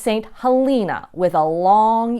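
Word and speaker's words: St. Helena: mythology you'll probably be tempted to call this st. Elena but it's not it's pronounced st. Halina with a long e and if you're driving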